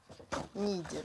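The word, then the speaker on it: Niğde: Да, он читается как Нигде. Ниде, да.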